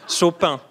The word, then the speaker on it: Chopin: He's mostly French, so we can say Chopin.